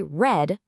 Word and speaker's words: read: While the spelling of read doesn't change, the pronunciation does. So when you say I have read that book, you actually say read just like the color.